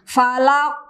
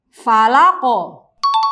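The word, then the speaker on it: الفلق: semacam pemutusan misalnya begini valak kayak begitu yang benar adalah falaqo falaqoh langsung mengalir seperti itu Kemudian yang kedua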